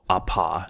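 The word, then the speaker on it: ἀπό: So in this case, it's APO, apa is how it's pronounced.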